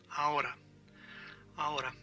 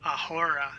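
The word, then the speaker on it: ahora: all right right now A A again you don't say aora you say a a a right now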